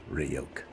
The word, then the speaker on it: Ryuk: Hey kid, it's pronounced Ryuk.